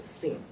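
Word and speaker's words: שׂין: 如果我们在它的左边加一个点的话，它的发音是 Sin，有点像英文那个犯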